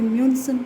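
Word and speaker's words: München: जैसे म्यूनसन, इसको म्यूनसन बोलते हैं, म्यूनसन।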